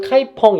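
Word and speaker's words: 카이펑: 카이퍼 입니다 여기도 중요합니다 카이퍼 중국식으로 갈아 가면 카이 펑 이라 하고 우리나라 현재 식으로 발음하면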